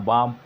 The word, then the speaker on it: balm: लिखते हैं, बोलते हैं, लेकिन लिखने का स्पेलिंग अब पाम है तो PALM पालम लिखते हैं, बाम है BALM बालम लिखते हैं, वॉक है इसको WL के वालक लिखते हैं।